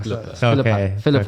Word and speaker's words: Philippa: I've been saying that name wrong for too long now. Philippa.